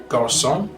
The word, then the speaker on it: garçon: The cedilla appears under the letter C and changes the pronunciation from a hard K sound to a soft S sound. So we'd say façon, way, garçon for boy, leçon for lesson.